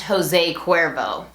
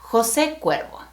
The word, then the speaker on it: José Cuervo: The best-selling tequila in the world is not pronounced Jose Cuervo. It's named after the founder, and his name is José Cuervo.